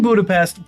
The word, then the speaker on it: Budapest: And before anybody says it's actually Budapestt, that's how they pronounce it in Hungary.